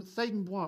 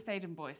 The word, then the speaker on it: Thaden Bois: From Thaden Bois Primary School. Have I pronounced that right? It's actually Thaden Boyce.